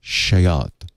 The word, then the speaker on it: SEAT: it they pronounce it it's spelled seat but it's pronounced shayat yeah it could be